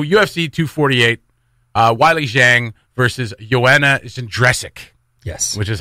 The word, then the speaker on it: Joanna Jędrzejczyk: So UFC 248, Wiley Zhang versus Joanna Jędrzejczyk. Yes. Which is how I'm pronouncing it.